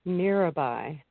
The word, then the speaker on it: Mirabai: Oh, Mirabai. Mirabai.